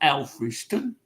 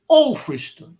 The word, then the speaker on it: Alfriston: I said, it's not Alfriston, it's Alfriston, you see.